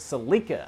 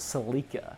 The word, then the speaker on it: Celica: was a 96 Celica back back in Australia we actually pronounced it so Lika I think that's a much cooler way to pronounce it so Lika don't you love how